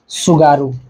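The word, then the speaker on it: 津軽: है सुगारू, ठीक है, ये ऐसे लिखा जाता है, ठीक है, आगे टी रहता है लेकिन टी साइलेंट होता है, जैसे सुनामी में होता है ना, तो वैसे ही जापान में टी को हमेशा साइलेंट करते हैं।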